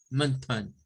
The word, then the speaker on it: mountain: Y la otra es como pronunciarlas como mountain, con el schwa, mountain, Bien.